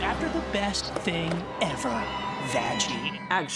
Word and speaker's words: Vaggie: the best thing ever vagy it's pronounced vaggi big massive puncture wound